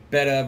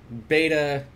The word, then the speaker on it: betta: pretty good video on betta versus beta where she says yes beta is not the correct way to pronounce it however beta is kind